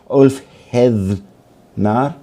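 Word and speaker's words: Ulfheðnar: So the Berserker and the Althethnar, it's a bit hard to pronounce because the Nordic TH is halfway between a TH in English and a D. So Ulfhednar, in a way.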